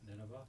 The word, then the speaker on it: Nineveh: Nineveh.